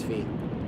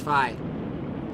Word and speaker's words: phi: Just kidding, it's Fee. Just kidding, it's Phi. Just kidding, it's Fee. Just kidding, it's Phi. Ah! Different physicists and mathematicians I know pronounce it different ways.